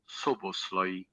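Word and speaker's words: Szoboszlai: Soboslai. From Soboslai. Okay, so you pronounce it as, but Calabria, supposedly the rumors, 10 million.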